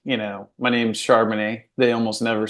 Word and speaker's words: Charbonnet: and if they did they said it wrong they say pronounce it a different way shonet or you know charbon it or something else and so I'm like